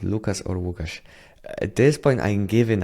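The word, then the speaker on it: Łukasz: How do you prefer to be called Lucas or Wukash? At this point, I'm giving up. uh on people managing to pronounce my name properly. Uh so like my literal pronunciation of name is Wukash.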